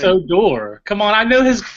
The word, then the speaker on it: Odor: we don't written in a door now he just teaches 21 he's gonna be awesome I mean no it's cuz his last name is odor come on man help me out it's a door come on I know